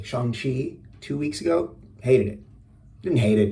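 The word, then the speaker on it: Shang-Chi: review like i saw sean chi i'm gonna say it properly shanghi two weeks ago hated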